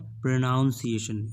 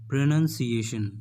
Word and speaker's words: pronunciation: बहुत से लोग ऐसे हैं जो इसको प्रोनाउंसिएशन बोलते हैं। इट्स नॉट प्रोनाउंसिएशन, इट्स प्रोनाउंसिएशन, प्रोनाउंसिएशन।